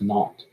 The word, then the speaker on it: naught: position at time zero so the zero is pronounced not then we have vx